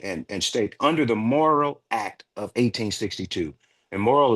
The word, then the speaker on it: Morrill: into it and and and State under the moral Act of 1862 and moral is spelled m o r r i l l